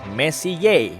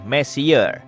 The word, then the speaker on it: Messier: Diucapkan messiye bukan messer yang artinya lebih berantakan.